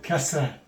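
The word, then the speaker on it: كسرة: It's going to be called kasra.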